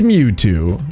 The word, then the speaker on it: Mewtwo: But his name rhymes with Snewtwo. His name is Mewtwo.